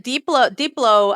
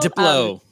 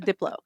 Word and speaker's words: Diplo: Uh then deeplo uh I don't know how to pronounce it. I guess Diplo. Diplo. Diplo. There you go. I needed someone to say it. Diplo.